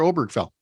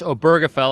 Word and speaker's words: Obergefell: today to uh Mr obergfell yeah and it's obergefell I just learned that myself and I've been saying it wrong for for a few weeks now but um the uh